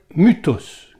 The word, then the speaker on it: mythos: les Grecs anciens, c'est-à-dire Mutos qui s'écrit mythos bien sûr my thos.